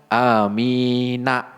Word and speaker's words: Amin: begitu tulisannya ya tetapi ya nunnya itu enggak dibaca Amina tulisannya na tapi apa Dis suukun amin begitu ya Jadi kalau misalnya nanti loh kok tulisannya amin Kok bacanya Amin Iya karena nunnya itu disukun atau dimatikan sehingga tidak dibaca ya Na tetapi Amin begitu Nah tadi hamzahnya tadi